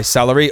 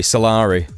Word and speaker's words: Salari: world Beyond saving by salary oh this could be good not salary salari keep getting the guy's name wrong let's take a look